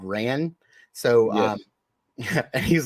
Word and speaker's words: Ran: you guys have ever seen ran or Ron however you want to pronounce it it's raan um that movie was